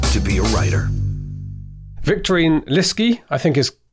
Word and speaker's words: Lieske: Victorine Lieske, I think is how to pronounce your surname? Yes. Lieske, there we go. Rhymes with risky, I think you said in your notes.